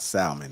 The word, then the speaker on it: salmon: it's uh it's not salmon it's like salmon salmon you from chicago i'm from texas bro oh okay move come back smoothly come back no we pronounce the l over here in texas oh okay all right